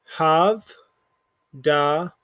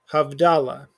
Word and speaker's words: havdalah: that doesn't have a nikud has an invisible shva underneath it because it's silent. So right here, this is going to be havdalah, havdalah.